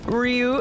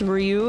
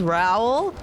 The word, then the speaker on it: Ryu: Back in middle school, we all pronounced Ryu as Raoul.